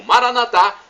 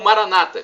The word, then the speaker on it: Maranatha: de Alex de Jesus eu clamo Maranatha como dizem nós como descemos nosso católicos ou Maranata como dizem nossos irmãos separados os evangélicos ou protestantes não importa a pronúncia porque o significado é o mesmo e somos todos